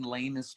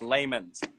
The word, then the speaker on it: layman's: But I think, Ezra, in lamest terms, you have a problem. Okay, Austin just learned the word lamest, and he's not even saying it right. It's layman's.